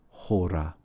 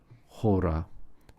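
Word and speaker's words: ὥρα: Finally here, we have the word hora. Hora starts with a rough breathing and the accent on the first syllable.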